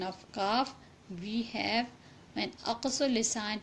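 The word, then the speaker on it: ك: So when aqsul lisan touches the combination of hard and soft palate, it will be pronounced kaf. There will be pronunciation of kaf. It's like that, ak, ik, uk.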